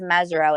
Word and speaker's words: Mesirow: be and you know my last name is mezro it's not spelled with a z but there's a very